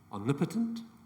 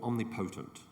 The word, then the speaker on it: omnipotent: there are two possible ways to say this word omnipotent or omnipotent omnipotent o m n